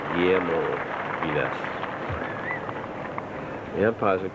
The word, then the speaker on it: Guillermo: Angus Bragg, and from Baldwin, And he worked it out how I could pronounce Guillermo correctly. And the first time I tried it, I stumbled over it. Guillermo. Guillermo. Guillermo Vilas.